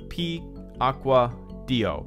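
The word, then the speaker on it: Piacquadio: And Damon, alright, by the way, it's pronounced P-Aqua-Dio. P-Aqua-Dio. Did I say that correctly? P-Aqua-Dio? Damon P-Aqua-Dio. That rolls pretty well. I like that. It's Italian. P-Aqua-Dio.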